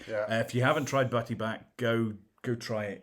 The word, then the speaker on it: Butty Bach: And one of Hereford's local beers is a beer called Butty Back.